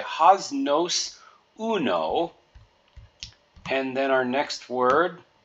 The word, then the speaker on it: uno: So the U is pronounced like oo or two O's in English, just like in the moon, do, who, or you. Oo, and then no, just like you would say no to a request you wanted to deny,